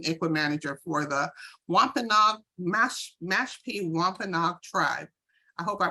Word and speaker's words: Wampanoag: She's an ICWA manager for the Mashpee Wampanoag Tribe. I hope I pronounced that correctly. Did I? Yes, Wampanoag, yes.